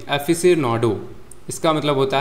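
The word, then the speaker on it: aficionado: पहला है आपका एफिशिएनाडो। एफिशनाडो सॉरी सॉरी एफिसनाडो इसका मतलब होता है एन एंथूजियास्टिक एडमायरर और फैन कुछ लोग होते हैं।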